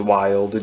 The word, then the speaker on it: Wylde: I believe it's pronounced Wild, W-I-L-D-E.